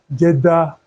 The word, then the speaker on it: Kjeldahl: A Kjeldahl method. The last method that we are going to treat is called a Kjeldahl method. A Kjeldahl what? Method or Kjeldahl method. The K here is silent.